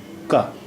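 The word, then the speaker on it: क: Ka. The Ka sound is unaspirated.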